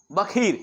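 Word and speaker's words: Baqir: लिखा हुआ है Mohammad B ए क्यू आई आर उसको बखर पढ़ते हैं प्रन होता है बी ए के एच आई आर प्रशन ऐसे होता है इसका मोहम्मद बखर ठीक है इनको एक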